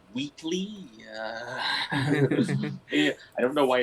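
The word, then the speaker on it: Whateley: It was pronounced Wheatley.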